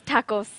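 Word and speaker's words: タコス: If you guys cannot read Japanese, it's pronounced as tacos.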